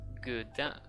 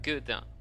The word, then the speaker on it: Godin: My name is pronounced Godin. If you want to say it in French, it's Godin.